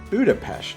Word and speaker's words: Budapest: become one city and that Budapest is actually pronounced Budapest stick around for some more fun facts as